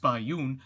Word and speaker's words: Bai Yun: A young panda makes her own discoveries, while her mama, Bai Yun, pronounced Bai Yun, feasts on bamboo.